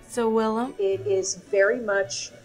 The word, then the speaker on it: savillum: So I'm going to be trying to make one of Cato's recipes, but I can't pronounce it. It's salamana? Sawillum. Sawillum?